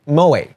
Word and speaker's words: moe: And this feeling of brain-dead but unconditional love is called it's called moe, with a French E accent on the top. Don't get it wrong like I did, since it's borderline heretical to the anime community.